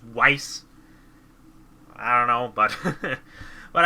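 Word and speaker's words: Weiss: wrong all this time I always said vice but apparently it's wice I don't know but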